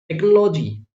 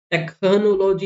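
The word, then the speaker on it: technology: बोल रहे हो ना टेक्नोलॉजी टेकनोलॉजी नहीं बोलते टेक्नोलॉजी बो स्टमक हा यह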